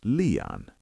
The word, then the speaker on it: liian: Two is leon.